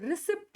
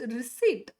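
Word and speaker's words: receipt: ಒನ್ ತುಂಬಾ ಜನಕ್ಕೆ ಗೊತ್ತಿಲ್ಲ ಈ ವರ್ಡ್ ರಿಸಿಪ್ಟ್ ಅಂತ ಓದ್ತೀರಿ ರಿಸಿಪ್ಟ್ this is ನಾಟ್ ರಿಸಿಪ್ಟ್ ಇದು ರಿಸಿಪ್ಟ್ ಅಲ್ಲ ಇಲ್ಲಿ ಪಿ ಸೈಲೆಂಟ್ ಆಗುತ್ತೆ ಇಟ್ is just ರಿಸೀಟ್ ರಿಸೀಟ್ ರಿಸೀಟ್ ಅಲ್ಲ ಮತ್ತೆ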